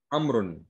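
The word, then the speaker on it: أمر: Amr. Amrun. Right? Not Amir, not Amir, not Amarun. So how confusing it can become, and if you are not pronouncing things right, you could make a mistake, right?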